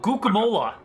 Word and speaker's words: guacamole: So the way you were talking about preparing it, is that what's called guacam guacam? Oh, guacamole. Yes, we love the guacamole here. It's so good. Yes. That's how you say it.